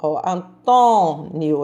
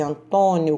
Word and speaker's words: Antônio: circunflexo no do thor antônio eu não falei antônio eu disse antónio com som fechado anasalado então vou usar uma